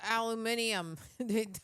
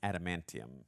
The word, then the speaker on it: adamantium: Oh, the aluminium. Even though that's not what it's called. I'm the king of mispronunciations, but I believe it's adamantium.